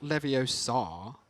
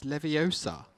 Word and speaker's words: Leviosa: It's not Leviosa, it's Leviosa.